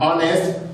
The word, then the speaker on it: honest: Because this H is silent H, of which it is being pronounced as letter O.